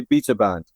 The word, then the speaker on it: Beta Band: It's something that's never bothered me, but we say Beta Band, but it's never bothered me, you know.